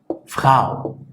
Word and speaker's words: Frau: El primer diptongo es el diptongo AU, que básicamente suena AU, AU, AU, como por ejemplo en la palabra Frau, que puede ser mujer, señora.